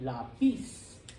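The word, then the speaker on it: lápiz: If it followed the rule, it would be lapis. Lapis. But it's not lapis. I almost said Connor. Carter said it. Lapis. Lapis. You're putting stress on the second to last syllable. So because the word for pencil is a rebel, doesn't follow the rules, we put an accent mark over the A.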